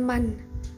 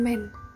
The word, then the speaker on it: Man: dengannya dengan sebutan Man yang benar-benar dilafalkan Man bukan men seperti pengucapan dalam bahasa Inggris lalu lebas menjelaskan maksud